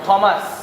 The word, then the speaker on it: Thomas: now onwards we will not say Thomas or Thomas we say Thomas because in English the T the her is not pronounced Thomas Thomas D Quincy q u i